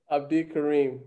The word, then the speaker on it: Abdikarim: Abdikarim.